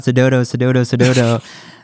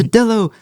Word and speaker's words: Sedillo: Everybody's like, oh my god, Sedodo. I was like, no, guys, it's Sedillo, like an armadillo. It rhymes.